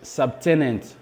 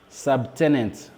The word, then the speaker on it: subtenant: Et le mot suivant, c'est subtenant. Subtenant. Vous voyez encore une fois de plus, la lettre B précède la lettre T. Vous devez prononcer la lettre B.